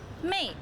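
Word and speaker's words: 妹: The second one on the right hand side give you the sound as well, pronounce mei.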